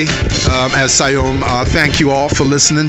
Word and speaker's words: Siayome: Because, you know, I don't mind, but he did slap my wrist for pronouncing his name incorrectly. So Siayome and Jammers.